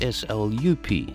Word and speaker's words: slap: South Africa's iconic slup chips, spelt S-L-A-P but pronounced S-L-U-P, slup, were not invented by anyone